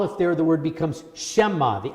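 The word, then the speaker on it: שְׁמַע: we make that mistake they enlarge the eye in to make sure that you said shama and not shema so you pronounce it correctly again at the very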